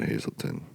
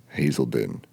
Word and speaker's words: Hazelden: my last meal at Hazelton I don't know why everybody pronounces it Hazelton it's a Deen Hazelden it say Hazelton there's no T there's no T in the word so Hazel witch hazel